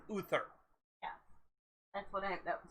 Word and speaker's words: Uther: they thought you were when you were saying arthur you are mispronouncing uther yeah that's what i